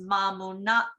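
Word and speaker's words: Mamanuca: Singatoka, Nagani, Ningnagani, and a C is pronounced TH as in Mamunaka Islands, so it is pronounced Mamanuta Islands.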